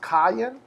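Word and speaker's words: קַיִן: It's pronounced kayin.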